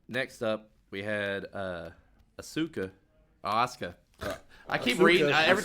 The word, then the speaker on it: Asuka: name and I'm like Asuka. Phonetically, you're saying it right, but the way it's pronounced is Americaniza. No. Uh that's the Americanized is Asuka.